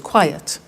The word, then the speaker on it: quiet: look at another example quiet listen to that why yet two syllables quiet another one safe is